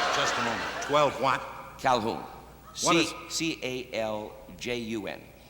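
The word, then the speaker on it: Caljun: Calhoun. What is... C-A-L-J-U-N. C-A-L-J-U-N. Calhoun. That's right. J is silent.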